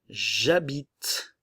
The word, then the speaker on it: j'habite: Donc, attention, nous allons avoir ici le J apostrophe. J'habite. Le E ne se prononce pas.